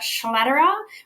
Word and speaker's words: Schlader: introduction my name is schlader rhymes with Roger federa it's a very complicated